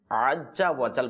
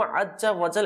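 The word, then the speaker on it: عزّ وجلّ: হবে ঠিক আছে না তখন আমরা কি করি দেখেন আজ্জা ওয়াজাল বলে ফেলি আজ্জা ওয়াজাল অর্থাৎ জিম উচ্চারণ করে ফেলি কিন্তু প্রথমটা কিন্তু যা দেখেন এটা কিন্তু আজ্জা ওয়াজাল এটা কিন্তু কোরআন শরীফের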